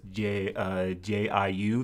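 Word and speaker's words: 酒: My understanding is J-I-U. There's actually a hidden vowel in there. There's an O in there, so you have to say jiu.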